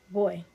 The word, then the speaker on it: voy: So whenever you see V, think B. Everybody repeat after me. Say boy.